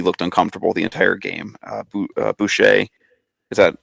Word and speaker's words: Boucher: Boucher, is that how you say it, Brian Boucher?